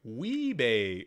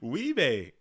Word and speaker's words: WIBEJ: As WIBEJ says, it's spelled like Weebay. Oh, just so you know, so you don't break your tongue. Weebay.